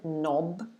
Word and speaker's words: knob: of the first word the k is silent so it starts with the n knob um knob again it